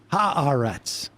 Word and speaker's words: Haaretz: I saw Mom Donnie shared that Haaretz article today. Oh, he did? Mm-hmm. Well, that's part of the global jihad that Christian Gillibrand was talking about, spreading Haaretz articles. That's right. Haaretz.